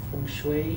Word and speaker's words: feng shui: So explain, like, how do you say feng shui?